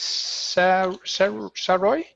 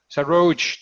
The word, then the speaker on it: Saroj: logs in with her parents' name, and that is Saroy? Saroj. Saroj, that's how I pronounce it.